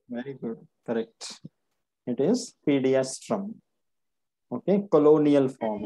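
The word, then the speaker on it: Pediastrum: Which one is this, pronounce करना हम। Very पीडियास्ट्रम। Good, correct, it इज पीडियास्ट्रम।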